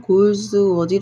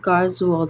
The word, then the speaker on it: Galsworthy: 따져보니까 66세에 돌아가신 존 갈즈 보통 인터넷으로 찾으면 골즈워디 아고 하는데 발음은 존 가워 있니다 1867년에 1933년까지 영국의 극작가 소설과 노벨 문학상